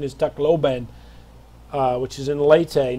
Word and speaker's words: Tacloban: It's the proper pronunciation is Tacloban.